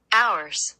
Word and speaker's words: hours: Hours. Hours. আওয়ার্স মানে HOURS, আওয়ার্স। এটা কি মানে ঘন্টা। লেখলাম কিন্তু এইচ, ঠিক আছে, লেখলাম এইচ কিন্তু এইচ এর কোনো উচ্চারণ নাই।